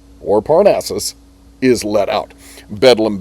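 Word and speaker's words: Bedlam: parnaces is let out bedum being the um slang uh pronunciation of Bethlehem, the mental hospital in London.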